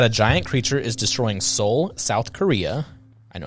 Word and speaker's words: Seoul: You didn't know how to pronounce soul? No, because it was spelled different.